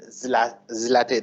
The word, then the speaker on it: Zlateh: Zlateh is supposed to be the pronunciation. Zlateh and Zlateh are different variations. Being a proper noun, you can pronounce it in whatever way. Of course, Zlateh, it seems, is the correct pronunciation.